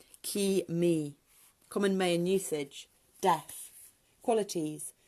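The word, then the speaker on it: K'ee Mee: Pronunciation, K-E-E, apostrophe, space, M-E-E, Ki-me.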